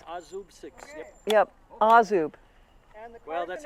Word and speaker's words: Azub: Azub. Azub 6. Azub 6. It's an Azub 6.